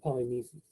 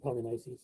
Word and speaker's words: Polynices: bury the body of polynesians and polynices again you can pronounce it either way so antique is very